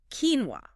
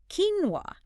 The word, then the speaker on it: quinoa: But it's quinoa. Quinoa. Quinoa. And the Master English podcast tells us that this is closer to the original pronunciation. Yes. It has Andian origins.